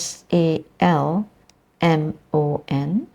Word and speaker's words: salmon: with an a as s a l m o n it is also pronounced salmon where the L Sound is silence it is spelled with an